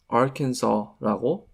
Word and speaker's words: Arkansas: 이 주 이름을 Arkansas라고 생각하실 분들도 있는데 이 주는 Arkansas라고 발음을 해요.